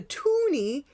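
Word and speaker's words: toonie: the two dollar coin we called it the toony because we already had the loony and it had to rhyme right so this is the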